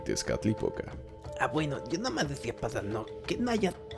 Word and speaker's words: Tezcatlipoca: no nos pronunciemos ansí los españoles los conocían al no poder pronunciar huitzilopochtli idescat época los conocían como gucci lobo y pesca típica pero no me empezó